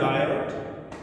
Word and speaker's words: Biot: BIOT बायोट Savart SAVART Savart.